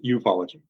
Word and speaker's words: ufology: can, idea of what ufology consists of? Because I know it's Certainly. a very big subject. So even though it looks like it's spelled like with an acronym, it's actually pronounced ufology.